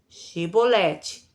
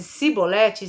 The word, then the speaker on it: Chibolete: Se respondesse que não diziam, então diga: "Chibolete." Se ele dissesse cibolete, sem conseguir pronunciar corretamente a palavra, prendiam-no e matavam-no Jordão.